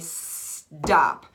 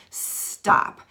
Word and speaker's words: stop: my drum sound and say stop, stop, because it sounds more like a D than a T, even though it's spelled with a T.